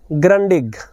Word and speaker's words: Grundig: जो यह शब्द है इसको विश्व भर में ग्रंडिग बोला जाता है भारत में कहीं कहीं डिग भी बोलते हैं लेकिन जर्मन भाषा का शब्द है और जर्मन